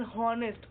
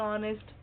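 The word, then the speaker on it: honest: वन तो क्या आएगा यहां पे अ एन हॉनेस्ट देखो यह थोड़ा वो है ना साउंड वाला भी ठीक है हॉ आ रहा है ठीक है हॉनेस्ट तो क्या आएगा एन ऑनेस्ट क्यों आ रहा क्योंकि स्पेलिंग कोंसोनेंट है लेकिन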